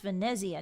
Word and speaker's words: Venezia: Actually, it's pronounced Venezia, not Venice.